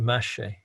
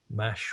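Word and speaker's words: mâche: it in seed packets they call it mache i don't know if i pronounce that right mash or mache m-a-c-h-e and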